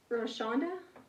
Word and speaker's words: Roshonda: Roshonda? You don't pronounce the W? That is way easier.